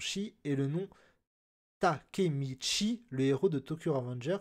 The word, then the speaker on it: Takemichi: Shi, et le nom Takemichi, le héros de Tokyo Revenger, qui se prononce Chi.